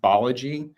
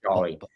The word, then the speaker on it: Balaji: One is, I believe it's pronounced Balaji, not Balaji. Okay. So it's Suchir Balaji.